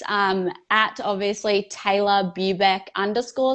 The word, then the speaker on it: Tayla: And like I said, just like Taylor, a lot of people, I always say Taylor, but I know it's Tayla, right? That's how you say it, right?